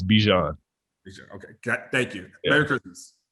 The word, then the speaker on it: Bijan: i got it clear how are you supposed to pronounce it it's it's bijan okay thank you merry